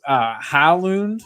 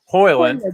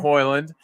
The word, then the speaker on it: Højlund: So this is Haaland, or however you pronounce his name, the striker for United. Højlund, thank you. Yeah. Højlund.